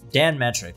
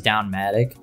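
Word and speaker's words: Don Mattrick: Dan of Don Don Dan metric I'm sorry I his name up so many times I've been saying his name wrong for like years I thought it was down Maddock but it's dan metric and Phil sponsor to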